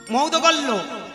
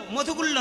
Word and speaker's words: মৌদগল্য: মানে কি আমি কশ্যপ মুনির বংশধর, শাণ্ডিল্য মুনির বংশধর, আত্রেয় অত্রি মুনির বংশধর, মৌদগল্য, মধুগুল্য নয়, উচ্চারণটা মৌদগল্য, ময়ুকার দয়গায় হাসান লাইজা ভালা, মৌদগল্য।